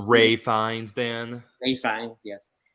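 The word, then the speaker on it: Ralph Fiennes: uncanny it's uncanny I really enjoyed that um Ralph finds in um the menu is so good Great Vines pronounced Ray fines then are you fine yes uh and Anya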